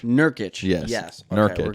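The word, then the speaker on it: Nurkić: Joseph Nurkic. Nurkic.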